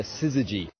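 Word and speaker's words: syzygy: special word for it we call it a siy when the read that word I was lacking in confidence when it comes to pronunciation so thank you that's right siy so that's what we're seeing beginning to happen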